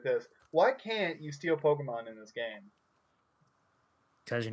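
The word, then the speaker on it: Pokémon: It's actually pronounced Pokemon.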